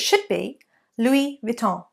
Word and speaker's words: Louis Vuitton: and to be authentic they don't pronounce the ends often on the end of words in French so therefore that end sound needs to be removed so it should be Louis Vuitton Louis Vuitton Vita louisvil